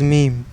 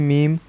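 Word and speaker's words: מם: I will say that in Hebrew we pronounce the word mem just as we pronounce the word for gene, gen. That being said, some people do say meme as the English pronunciation of the word.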